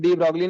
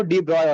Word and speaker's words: de Broglie: पढ़ते हैं, ठीक है, बट एक्चुअल में डी ब्रॉगली ने अगर एग्जैक्ट प्रोनाउंसिएशन हो ना, डी ब्रॉय होता है, डी ब्रॉय, ठीक है, वो फ्रांस है ना, तो थोड़ा एक्सेंट का हुआ है, ठीक है, अगर नाम